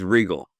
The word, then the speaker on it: Regal: Is it Regal? It's Regal. Regal. See, I've butchered the name in my intro.